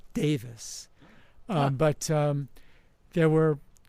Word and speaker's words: Davies: you had with Ray Davies of the Kinks. So by the way, when you read the name, people refer to the last name as Davies, Ray Davies, but it's actually he pronounces it Davis.